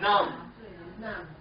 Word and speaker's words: numb: they pull you through num num n m num but we don't say the b we don't say num we say num sometimes the B is silent silent means no sound okay all right good